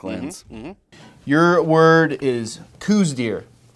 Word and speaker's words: Coues deer: yep I do you know there were multiple pronunciations of this word dear co u es space d ee r coues deer nice tricky one but Dale got it done